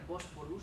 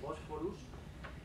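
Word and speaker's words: Bosphorus: Pero el Tribunal Europeo, en principio, tiene lo que se llama la doctrina Bósforus, se escribe con PH, Bósforus, que es lo que se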